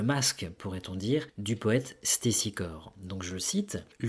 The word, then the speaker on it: Stésichore: a le discours d'un célèbre poète qui s'appelait Stésichore. Alors ça s'écrit S-T-E accent aigu S-I-C-H-O-R-E. Alors Stésichore, c'était un célèbre poète dont la période d'activité se situe aux alentours de 570-540 avant Jésus-Christ.